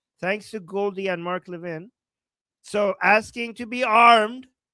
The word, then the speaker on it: Levin: Is it Levin or Levin? Okay, Mark Levin. Yes, that's how you say it.